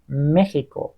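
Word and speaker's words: México: اکسترانیو ببین اکسترانیو ولی بچه‌ها مکسیکو رو ببین میگن مخ میکو مهیکو یا خود اسم مکسیکا میگن مهیکو تکسی تاکسی یه مثال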